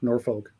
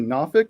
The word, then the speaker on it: Norfolk: okay I you know the way that it was taught to me was it you you you don't drink don't smoke nor or and then yeah yeah